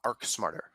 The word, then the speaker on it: ArchSmarter: architecture part but it how do you actually pronounce it uh arc smarter arc smarter all right yeah yeah